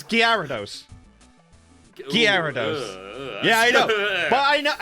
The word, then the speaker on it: Gyarados: It's like, for me, it's Gyarados. Gyarados. Yeah, I know. But I know it's Gyarados. I've always known as Gyarados, but it's Gyarados.